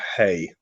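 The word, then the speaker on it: ἡ: of that feminine article did you say it was hey hey yeah yeah hey see it's got a rough breathing on it yes yeah so it's hey has a ha sound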